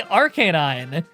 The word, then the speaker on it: Arcanine: Yeah, dude, I know how you're trying to tell me to pronounce it. I say Arcanine.